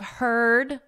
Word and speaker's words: heard: Beware of heard a dreadful word that looks like beard and sounds like bird.